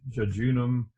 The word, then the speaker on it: jejunum: I've probably pronounced this word wrong for my entire adult life. I still say jejunum. I've heard it pronounced better ways probably, but you're stuck with me. So now I'll program a mispronunciation into your head probably.